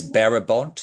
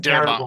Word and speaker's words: Darabont: Yeah, it's Barabont. Is that how you say his name? Darabont with a D. Thank you.